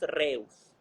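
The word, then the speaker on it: Rhesus: RH viene del nombre del origen, que fue donde se empezó a estudiar, que fue el Macacus reus, ¿ok? Reus se escribe R-H-E-U-S, ¿ok?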